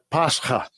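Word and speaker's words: πάσχα: We click on that, and this is how you pronounce it. Strong's G3957. Pascha.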